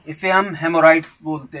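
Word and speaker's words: haemorrhoids: Next word है हेमोराइड्स, HAEMORROIDS, हेमोराइड्स। तो यहाँ पर एच साइलेंट है, तो हेमोराइड्स क्या होता है, swollen veins in the anus is called हेमोराइड्स।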